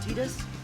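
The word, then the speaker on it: Tidus: and Final Fantasy X-2, Titus's name was never canonically pronounced. And the reason for that is that his name is Titus by default, but you could actually rename him. Waka here has finally given us a canon pronunciation.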